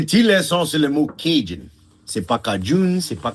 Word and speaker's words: Cajun: Et comme d'habitude, les Anglais qui veulent mal prononcer tout quelque chose, Cajun? Oui, Cajun. Oui, c'est ça. Mais vraiment, c'est Cajun.